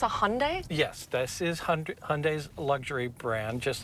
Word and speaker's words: Hyundai: Yes, this is Hyundai's luxury brand, just like Lexus is Toyota's luxury brand. And how do we pronounce it? It's Hyundai. Hyundai. Like Sunday. Like Sunday. That's a good way to remember it.